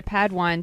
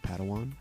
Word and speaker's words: Padawan: master yoda assigned a pad one to this bold jedi that's pronounced padawan oh padawan excuse me